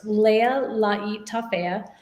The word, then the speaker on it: Lealaitafea: do you say that so it's pronounced my last name is pronounced leia laii tafea my husband is part